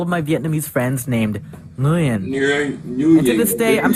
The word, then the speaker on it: Nguyen: Actually, it's pronounced Nguyen. All I know is it's gotta come from your uvula.